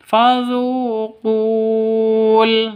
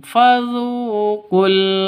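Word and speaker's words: فذوقوا: Jadi cara bacanya fadu qul seperti itu. Bukan dibaca bukan dibaca panjang. Fadzuqul tidak tapi langsung fzuqul azaba begitu ya.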